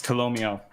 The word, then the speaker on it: Tolomeo: I always forget how to pronounce it. It's Tolomeo.